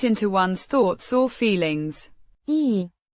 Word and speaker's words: и: E, a conjunction meaning and pronounced I as in eat, a simple connecting word linking the phrases means light or easy.